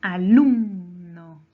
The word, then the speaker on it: alumno: La palabra alumno. Alumno lleva su mayor fuerza de voz en la penúltima sílaba.